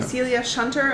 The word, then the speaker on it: Schunter: my website yes exactly celia shunter i don't know or whichever language you want to pronounce it in but that's probably the most english way to pronounce it and um dot com